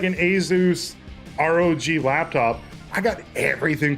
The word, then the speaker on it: Asus: I got like an asus rog laptop I got everything plugged into it I got on Asus laptop easiest it's cut it's pronounced azuz thank you but Asus that's it that's a no from me